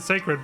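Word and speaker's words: Sacrid: They pronounce it Sacred, but they spell it with an I instead of an E after the R.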